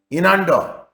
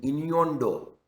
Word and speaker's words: innuendo: Inando. What is inando? Actually, pronunciation is innuendo. Innuendo. That is the right pronunciation.